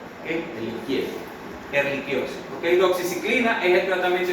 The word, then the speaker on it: Ehrlichiosis: Ehrlichia, eso es latín, y el latín CH es como los italianos. No se pronuncia che, eso es español, pero eso no está en español, eso está en latín. Y CH se pronuncia como si fuera una Q.